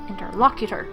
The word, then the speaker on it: interlocutor: good in Turk okay interlocutor there we go English logic long words in English have the stress on the third syllable from the end interlocutor when I'm hungry I